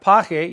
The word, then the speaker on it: pague: Then you have pague, you have to put the U in there to maintain the integrity of the hard G sound.